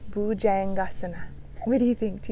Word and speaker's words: Bhujangasana: Bhujangasana. Bhujangasana.